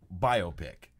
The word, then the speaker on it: biopic: No, well, I found out, for one thing, it can be pronounced either way. What can? Biopic. Or biopic, if you want to be an asshole.